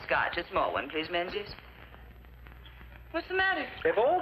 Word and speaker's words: Menzies: A small one, please, Menzies. What's the matter? If all these Atlantic packs are to go through, you Yanks will have to learn to speak the King's English. And Menzies is pronounced Mingus.